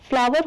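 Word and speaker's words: flour: जैसे कि एफ एल ओ डब्ल्यू ई आर फ्लावर होता है मतलब फूल। वैसे ही एफ एल ओ यू आर भी फ्लावर होता है। लेकिन इसका मतलब होता है आटा।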